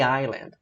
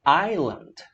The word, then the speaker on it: island: The island. Island. Ilha, né? Tem gente que pronuncia island. Tá errado, tá? O S é mudo e o I tem som de I, né? Vogal longa.